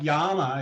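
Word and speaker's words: yaama: spell that word um it's like yama it's y double a m a and people will go well what's a double a well it's a r sound so it's like yama and it's so it's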